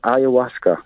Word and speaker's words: ayahuasca: But that's just to really tell you what the word exactly was, ayahuasca. Thank you. We always like pendants who correct my pronunciation.